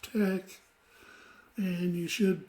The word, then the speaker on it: TeX: a program called latex even though people um see it spell t-e-x it's really pronounced Tech and you should pronounce